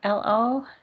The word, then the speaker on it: Lo: L-O?